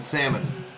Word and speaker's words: salmon: struck him out yeah the L is silent and salmon salmon in the